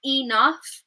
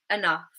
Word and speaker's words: enough: But if we're saying this word within a sentence, we would more likely, rather than saying enough, we would use the schwa at the beginning and say enough, enough.